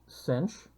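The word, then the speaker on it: sinh: the hyperbolic sine and that's pronounced cinch and this is the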